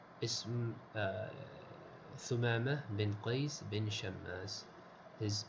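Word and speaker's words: شمّاس: Wal-mim al-mushaddada, the mim in this word has a shadda. So the correct pronunciation of this name is Shammas.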